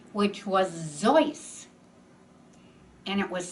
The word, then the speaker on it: Seuss: middle name which was zoice and it was spelled s-e-u-s-s but people in the united states pronounced it soos so he thought zoys seuss well i think